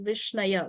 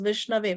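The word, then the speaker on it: viṣṇave: chaitanya bhagavata which says a foolish person will pronounce the name of the Lord as vishnaya which is a wrong pronunciation okay diro a person who is intelligent a person who's knowledgeable he will pronounce it as vishnave which is the correct pronunciation both of them receive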